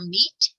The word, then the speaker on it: meat: Watch out for meat and great and threat. They rhyme with sweet and straight and debt.